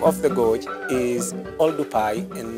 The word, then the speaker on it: Oldupai: professor William cat Winkle mispronounce the name of the gorge and put V instead of P and that neck the